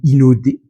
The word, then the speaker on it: Hinode: Rencontre au parc Inode, ou Inode, si on le prononce à la japonaise.